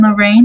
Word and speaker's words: Lorraine: There are very few names that are two syllables and the emphasis falls on the second syllable. And Lorraine is one of them.